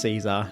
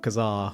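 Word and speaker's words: Casar: to the episode but I believe it is pronounced Caesar not Kazar or something like that because when the town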